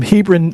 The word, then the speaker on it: Hebron: He's a songwriter from Hebron, Nebraska.